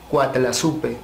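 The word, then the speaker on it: Coatlaxopeuh: del n cuatla chu que correctamente se pronunciaría cuatl supe donde coa significa serpiente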